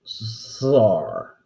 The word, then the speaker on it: czar: the problem is though russians have a difficult time pronouncing the double s sound as in buzzer or geezer or caesar it comes out sar and so yeah the